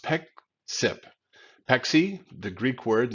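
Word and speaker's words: Pexip: and get CDW deeper in that customer it's pronounced Peck sip Peck see the Greek word that means to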